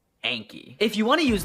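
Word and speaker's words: Anki: Just remember that it's pronounced Anky.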